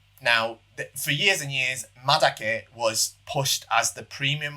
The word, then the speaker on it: madake: Taiwanese species of bamboo, and madake, or matake as some people pronounce it. It's the same thing.